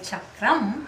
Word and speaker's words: chakram: language of sanskrit and we call it chakram like it kind of ends with that but you are good enough you didn't say chakra so i was very